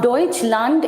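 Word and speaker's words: Deutschland: तो हम लोग डइचंड क्यों बोल रहे हैं? हम डोइचंड इसलिए बोल रहे हैं बिकॉज़ जर्मनी में हम लोग डोइचंड बोलते हैं।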